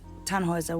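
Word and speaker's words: Tannhäuser: what's your name tanhauser we'd pronounce it tanhoiser with an umlaut German roots yes my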